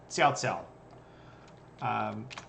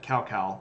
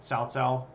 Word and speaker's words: Cao Cao: No, Xiao Xiao. Which is spelled like this, like cow cow, but it's pronounced like TS, so like Cao Cao.